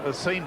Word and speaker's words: Sean: Okay, now we've got Sean Watson, Sean Watson rather. That's the way he likes his name pronounced, S-E-A-N.